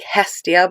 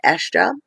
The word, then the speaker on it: Hestia: Looks like Hestia, but I've been told by Marion, who is a Hellenic polytheist, excuse me, that it's pronounced Estia.